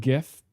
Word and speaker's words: GIF: Um, he wants it to be like Jeff, like the peanut butter brand. Yeah. Well, Mhm. Mhm. Mhm. Was was co the only thing wrong with you or I'm going with GIF.